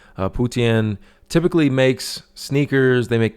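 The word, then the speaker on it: Putian: are made in guangdong also in putin i believe is how you pronounce it putien typically makes sneakers they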